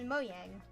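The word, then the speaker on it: Mojang: Moyang is supposed to be pronounced Moyang. The J is more of a Y.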